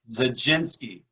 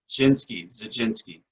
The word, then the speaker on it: Zajdzinski: Zajdzinski. So I tell people, you probably shouldn't drink gin and go skiing. Zajdzinski.